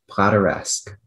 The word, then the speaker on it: plateresque: Are there any alternate pronunciations? That is the only one. Plateresque.